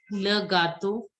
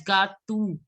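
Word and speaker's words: le gâteau: Le gato. Le gato. EAU is always pronounced as O. Generally, you people pronounce it as gatu.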